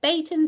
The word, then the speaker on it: Beighton: So you can do a physical examination like the Brighton scale, or Brighton, I think, very technically, if you're going to say it right.